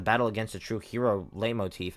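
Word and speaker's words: leitmotif: against a true hero lay motif. I think it's a light motif. I It's I don't know this stuff. I I think light motif is the correct way to say it.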